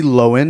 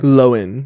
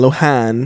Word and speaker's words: Lohan: Lindsay Lohen, that's how you pronounce it, by the way. Aware. Loen. Yeah. Not Lohan. Nor. Lohan. Get it right. Loen.